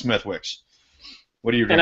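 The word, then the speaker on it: Smithwick's: what is it symmetrics smitics whenever i have to say it up here all right well ladies and gentlemen you know what i'm irish and i'm gonna say smithwicks because i'm pronouncing it phonetically so if that's pissing off any of my fellow drunken horse steve brothers out there so be it it's smithwicks what do you think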